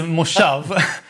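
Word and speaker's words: moshav: a kind of mistake on wikipedia it's a mushaf now it's some it somehow got around that i live in a moshov which is some kind of socialist collective community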